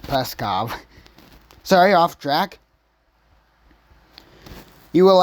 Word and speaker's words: Peskov: Dimitri Dimitri preskov Dimitri preskov that's how it's pronounced there is no one peskov it's just peskov sorry off track you